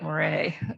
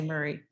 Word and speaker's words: Moray: It's pronounced Murray, by the way. It looks like Moray, but in Scotland they say Murray.